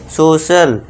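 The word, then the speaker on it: social: जैसे अब सी के आगे आई ए है तो इसे क्या कहेंगे? सोशल स का साउंड यहां पे आ रहा है।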